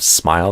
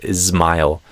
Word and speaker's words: smile: A lot of Brazilians, instead of smile, they say ismile.